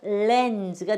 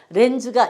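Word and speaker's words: lens: 니은 써주시고 요때 S가 쓰냐 주냐 예, 이때는 그 사람들은 즈라고 발음을 해요. 그럼 우리 따라서 즈 하시면 돼요. 그냥. 그래서 렌즈가 됩니다. 렌즈가 이거 렌즈라고 읽으시면 안 돼요. 렌즈 그러면은 R 발음에 가까워요. 렌즈 하는 것처럼 렌즈 이렇게 하세요.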